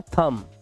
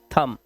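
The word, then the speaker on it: thumb: ये थंब ब नहीं है। ब नहीं बोलना है आपको। इसको बोलना है थंब। ठीक है? क्या बोलना है? थंब और इसका मतलब होता है अंगूठा।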